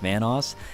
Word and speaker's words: Vanoss: new to this channel obviously my name is pronounced Vanos and if you guys